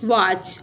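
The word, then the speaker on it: watch: तरह tight white वाच डब्लू ए टी सी एच वाच टी क्या है इसमें यह साइलेंट है ऑफ ओ एफ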